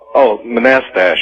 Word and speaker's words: Manastash: All right, how do you pronounce the name of your town, Manastash? Manastash.